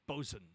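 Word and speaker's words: boatswain: can have a a boat Swain but it's pronounced bosen interesting so I'm I I'm not entirely sure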